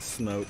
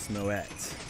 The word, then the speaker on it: Smoet: So it is 2 syllables, not smote, it's Smoet.